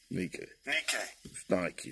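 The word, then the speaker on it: νίκη: it's nike that word means victory let's see how they pronounce it strong's g 3529 nikkei nikki is like you know uh the shoes not you feminine now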